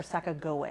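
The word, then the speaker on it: Sacagawea: it was and so Saka joa or Saka Goa actually is how you would say it we we've butchered it in the American language um Saga joa and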